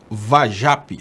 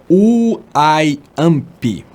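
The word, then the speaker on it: Wajãpi: E Edu Chaves, não se fala Uajape, se pronuncia Uaiampi.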